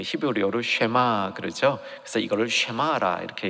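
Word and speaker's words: שמע: 그래서 여기 들으라라는 말을 이제 그 히브리어로 쉐마 그러죠. 그래서 이거를 쉐마라 이렇게 얘기하는 겁니다. 한번 여러분 발음으로 한번 따라해 보시기 바랍니다.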